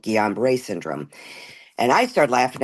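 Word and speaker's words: Guillain-Barré: He said, I think what you're experiencing is called Guillain-Barre Syndrome. And I started laughing. I said, Gilligan, what?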